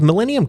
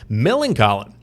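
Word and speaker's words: Millencolin: colin is that really i've always thought it was millennium oh my god i've been reading that name wrong all these years milling colin there you go naughty by nature papa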